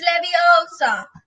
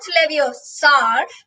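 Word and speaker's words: Leviosa: take someone's eye out besides you're saying it wrong it's levosa not leevar Lev no sorry Le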